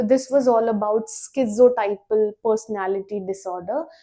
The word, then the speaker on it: schizotypal: तो this was all about स्किोटाइपल personality disorder. बहुत लोग उसे स्किटिपल पर्सनालिटी डिसऑर्डर प्रोनाउंस करते हैं। But that that's not correct.